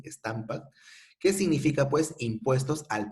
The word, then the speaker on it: Stamp Act: El Stampak, lo puedes pronunciar así, Stampak, que significa pues impuestos al papel para hacer periódicos, para hacer documentos notariales, para hacer contratos, por ejemplo.